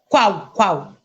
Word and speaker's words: Kwao: Is that how you say it? Kwao? Kwao. Kwao. Yeah.